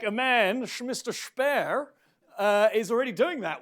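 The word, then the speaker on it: Shpare: a bidding war what's the name spare spare by the way that's actually how it's pronounced it's not his accent it's got an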